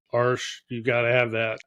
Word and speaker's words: Arches: I better say it correctly since I'm a brand ambassador now. My first watercolor teacher was Arsh.